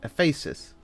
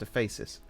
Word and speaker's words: Ephesus: of artamus at epes Ephesus I think it's pronounced Ephesus otherwise it sounds like feces which isn't oh no